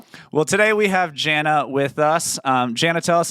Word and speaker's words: Jannah: Well, my name is Jana. It's like Hannah with a J, so it's spelt a little funky.